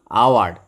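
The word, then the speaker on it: hour: Honest, এই যে এইচের উচ্চারণ যখন অ বা আ হয় তখন তার আগে কিন্তু অ্যান বসে। হ না হয়ে যদি অ হয়, যদি হর্স হতো এ হর্স হতো। অনেস্ট অ উচ্চারণ হচ্ছে, তাই জন্য অনেস্ট, অনারেবল, আওয়ার, এই 3টের আগে অ্যান বসে।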